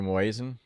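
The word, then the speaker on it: muezzin: How do you pronounce that word? Do you know? Oh, the Moazan.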